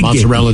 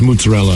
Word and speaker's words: mozzarella: of the uh like honestly it's not mozzarella it's mozzarella right so even stuff like